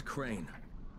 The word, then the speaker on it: Crane: No, my name's Crane. Crane? Crane rhymes with train and brain and sane and grain and rain and plane and the other kind of plane.